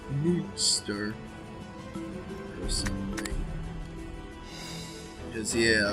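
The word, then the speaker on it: Münster: Oh, actually, I doubt it's actually pronounced Munster. I bet it's like Munster or something. Because, yeah, there's the 2 dots over the U, which is an OO sound. So try Munster.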